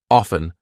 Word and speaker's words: often: silent T hustle or ft n silent T often soften I'm not saying often I go to the park often I go to the park often now again this will kind